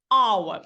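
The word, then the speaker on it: hour: у слові aur година our починається на голосний тому що H не вимовляється енауер але a hors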